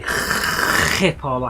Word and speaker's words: Schiphol: pronunciating it, and so every time I now say Schiphol, I have to just really emphasise that phlegm that comes out of my mouth from it.